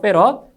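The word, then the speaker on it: 패럿: 아시겠죠 c로 표시해 주고요 그 단위는 F 이걸 페럿이라고 읽어요 아시겠죠 페럿 그래서 정전 용량의 기호는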